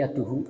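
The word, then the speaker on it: يدُهُ: Ternyata ini tidak ada alifnya. Jadi yaduhu bacanya yaduhu. Kalau yang di atas itu yadahu, fala yaghmis yadahu. Yang di bawah batat yaduhu.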